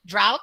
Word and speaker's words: drought: bought remember rancid toward drought must always rhyme with bout and daughter leave the